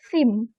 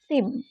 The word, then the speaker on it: theme: Nah ini kalau kita ada apa tadi ini theme ya, ini bacanya bukan tim atau tem tapi theme, abatasa, huruf ketiga 4 ya, abatasa. Oke, theme.